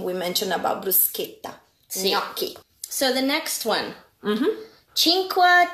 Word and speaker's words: gnocchi: Nochi. What it is? Yeah. Nochi. Gnocchi? Oh. Okay, let's do it again. It's a gnocchi. Gnocchi. Yes. Nochi. Nope. Gnocchi. Go, gnocchi, gno.